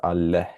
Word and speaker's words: አለህ: And this is aleh. There's an H here actually, so keep that in mind. So do you have food would be ምግብ አለህ. Notice the h sound at the end.